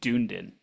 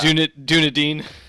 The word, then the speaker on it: Dunedin: I'm pretty sure it's pronounced Dunedin. Shut up. Dunedin.